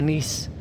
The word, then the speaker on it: Nice: kay guys no panalo kaya ang paglaglaag sa nis pag-pronounce pero kung imong basahon nice ni sa to